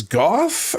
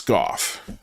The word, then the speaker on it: Goff: Gallaudet, Guillot, is Goff Italian? Matt Ford pronounces it Go, even though it's not Go. It's Goff.